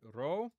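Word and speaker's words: ρ: And then we get row. Okay, row. And that's confusing for English speakers because it looks like a P.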